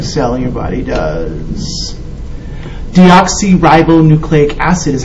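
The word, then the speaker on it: deoxyribonucleic acid: Deoxy ribboucleic acid is how you say it.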